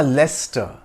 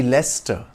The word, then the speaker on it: Leicester: Gateway of India ah leester it's a city in England whose name has a tricky spelling that leads to it being mispronounced as Lester it should be Lester Lester also refers to